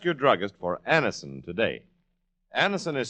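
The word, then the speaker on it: Anacin: Anison is spelled A N A C I N.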